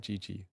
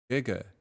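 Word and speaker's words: 哥哥: Not Gigi. Giga. Oh my goodness. My Chinese is so bad. I just pronounced that GG this whole time.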